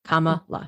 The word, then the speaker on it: Kamala: Kamala, right? I really said her name wrong all the time.